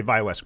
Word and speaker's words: ViaWest: Yes, Did I pronounce that correctly? you did. All right. We say ViaWest Group, but you can stick with ViaWest.